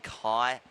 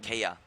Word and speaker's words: Kai: at day six and we're only just pronouncing Kai Martin's name properly what what were we saying Kia it's in here is Kia I know sorry for the